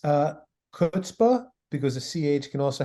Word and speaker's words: chutzpah: and I pronounce it I've heard it pronounced as if the the C isn't there it just starts with the H kind of like a